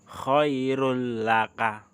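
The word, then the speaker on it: خَيْرٌ لَكَ: Khairun laka, tulisannya khairun laka, tetapi bacanya khairul laka.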